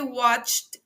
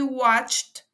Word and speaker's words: watched: el pasado simple She watched TV aquí como vemos el verbo termina en Ed porque es un verbo regular la pronunciación de ese Ed al final es una pronunciación en t vemos la estructura fonética